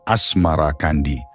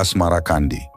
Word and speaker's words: Asmarakandi: Babat Tanah Jawi, versi Meinsma menyebutnya Asmarakandi, mengikuti pengucapan lidah Jawa terhadap As-Samarkandi, berubah menjadi Asmarakandi.